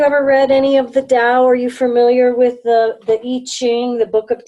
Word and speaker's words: Tao: Is it similar to Tao? It is the same. It's T-A-O is the correct spelling. Pronunciation, as I have learned it, is to pronounce it as if it were D-A-O.